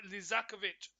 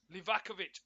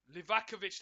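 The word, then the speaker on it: Livaković: Sun and it's like lizakovich livakovich I'll keep getting this Keeper's name wrong livakovich now who gets it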